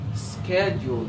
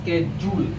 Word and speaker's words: schedule: Schedule. It's not schedule. It's not schedule or schedule.